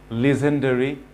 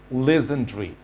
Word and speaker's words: legendary: Boundary, legendary, DARY, এখানে ডারি না বলে বলতে হবে ড্রি, legendary.